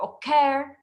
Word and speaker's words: occur: Occur, I'm stressing on the C.